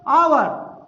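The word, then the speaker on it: hour: इसे क्या कहेंगे बच्चों, आवर, आवर, यह साइलेंट है।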